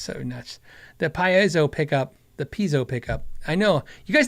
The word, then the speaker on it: piezo: What he means is the Piazzo. Dude, it's so nuts. The Piezo pickup.